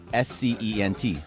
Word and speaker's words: scent: S-C-E-N-T. The S is silent. Why is the S silent? Because that Scent. word exists without Yeah. the... If it's C-E-N-T, you're going to pronounce it the same way.